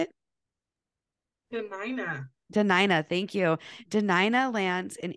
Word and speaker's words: Dena'ina: She was born in Portland, Oregon, but is proud to call, I'm going to say this totally wrong, Dena'ina. Is that how you say it? Dena'ina, thank you.